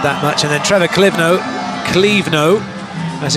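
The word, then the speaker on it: Clévenot: And then Trevor Clivno, as it's pronounced, has come on and done a very good job.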